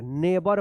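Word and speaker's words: neighbor: ने और यहां पर जी एच जो है ना साइलेंट रहेगा बी ओ आर नेबर पढ़ेंगे नेबर नेबर मतलब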